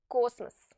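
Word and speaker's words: космос: rule is very simple if the letter O is stressed is pronounced o but if it's not stressed and follows the stressed syllable it will be pronounced like a very short a cosmos Cosmos the same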